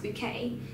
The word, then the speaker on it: Bucket: a woman called high bouquet and her name is actually spelled bucket but she insists on it being pronounced bouquet and she's from a